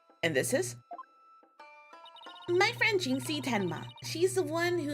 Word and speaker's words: Jinxie: It's a pun on the word jinx, so it's probably Jinxie.